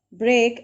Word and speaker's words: break: trying to say that why don't we pronounce the word break and freak in a similar rhyme way will you tell me